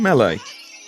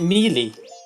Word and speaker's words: Melee: one is it again i think it's in melee or mealy or however you pronounce it who pronounces it mealy mealy is like a bad apple that you don't want to eat exactly then smash brothers